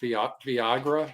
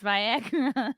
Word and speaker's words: Viagra: you could write off Viagra, is that via yes. That that's how you know he doesn't take it because he doesn't even know how to pronounce it. It's Viagra.